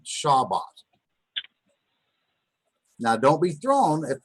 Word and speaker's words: Shabbat: is Shabbat the Sabbath so Shabbat is spelled Shin rock which makes a sha sound not Schaal remember if that were comets that would be an all sound so it makes a shorter a sound or Shiraz now and